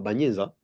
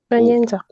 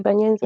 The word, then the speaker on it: Bagnenza: Sur les contrats, je vois on écrit comme comment Bagneza? Bagnenza. Oh. J'ai bien prononcé? Oui, oui, c'est Bagnenza.